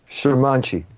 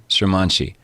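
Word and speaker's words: Šurmanci: Am I pronouncing it correctly, Sermanci? Sermanci. Sermanci. Yeah.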